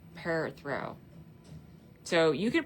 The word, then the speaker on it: Perthro: But they like to say P e r and then throw. So per throw per throw.